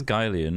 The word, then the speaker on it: Guylian: I'm It is past Guylian. Gulian. I don't know if it's Gillian, It's Guylian Guylian, because it's a combination of two people's surnames. Guy and Leon.